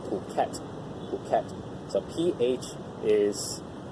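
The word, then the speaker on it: Phuket: ADT's this is pronounced protect the kept so pH is that H is silent so it's protect it's not something else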